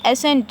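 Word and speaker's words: ascent: और यहाँ पे एसेंट है, यहाँ पे सी साइलेंट रहेगा।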